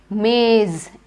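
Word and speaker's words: maize: you got it right this time it is maze m-a-i-z-e just say hindi next a warrior tribe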